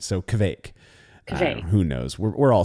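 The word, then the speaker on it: kveik: Seeing some, a Norwegian told me it's like quake, like earthquake, except with a V in it. So kvake.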